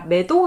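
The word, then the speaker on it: Meadow: 하겠습니다 아 어떤 분이 이 스웨터 발음이 위도우 가 아니라 매도 라고 말씀을 해주셨어요 저도 수정해서 말하겠습니다 저와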